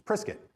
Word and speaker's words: Prescott: was prescott arizona right it's priskit it's spelled p-r-e-s prescott prescott is how it's spelled and we were we were notified that we were saying it wrong and it's it's prescott so it's not a